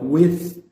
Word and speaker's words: with: com uma lição então with eu coloco a língua no meio dos dentes porque o th geralmente e principalmente no final das palavras ele tem essa pronúncia que é Então aprende a fazer isso porque senão não vai sair o som correto você se você não